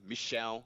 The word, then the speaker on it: Michel: So you got Alex and you got Michel, as you have to pronounce it.